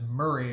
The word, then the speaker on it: Maury: That's Murray County, spelled M- Aur Y. We pronounce it as Murray around here.